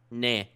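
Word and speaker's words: nez: Nah.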